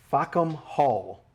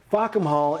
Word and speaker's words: Fackham Hall: cover your ears, earmuffs, Fackham Hall. Now, the title is how it's spelled correctly, but if you kind of say it fast, you might be able to tell what it is saying.